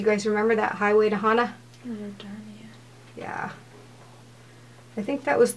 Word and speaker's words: Hana: Hana?